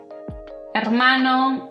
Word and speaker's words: hermano: Si pronunciaste hola, huevo, hermano, alcohol. Bueno, felicitaciones, todo bien. La H en español no tiene un sonido, es muda. No importa dónde esté posicionada, simplemente no se pronuncia, excepto cuando hay una C delante de la H.